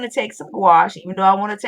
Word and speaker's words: gouache: and then take uh I always say gouache rhymes with squash and go over it